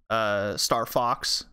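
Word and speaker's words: StarVox: was a company called Star Vox which in German would be pronounced phox so the name was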